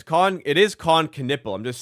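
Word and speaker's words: Kon Knueppel: It is Con Canipple. I'm just saying it's it's spelled Canal.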